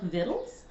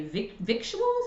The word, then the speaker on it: Victuals: from Ronnie Lundy's wonderful James Beard Award-winning book, Vittles. I've heard a lot of people say victuals, like what's this called?